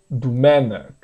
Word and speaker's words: Domènec: Esse o aqui, primeiro você pronuncia u, ok? U mesmo. Isso é algo que começou lá no século, já em 1500, mais ou menos. Já começou essa incerteza de como se. Não incerteza, a pronúncia do O foi se tornando um pouco mais neutra, que eles chamam, tem uma neutralização, né? Então, em vez de ser Domenic, é Domenic.